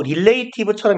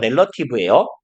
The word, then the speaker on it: relative: 릴레이티브처럼 이렇게 생겼지만 왠지 나도 몰라요. 렐러티브예요.